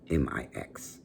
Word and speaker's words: Mx: miss which is mix m-i-x well i'm sorry mx pronounced mix um but listen i